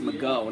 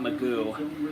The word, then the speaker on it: McGough: I think it's really pronounced McGough, not Magoo. Why do they always pronounce it Magoo? He's not Mr. Magoo from back in the day, that old cartoon, you know.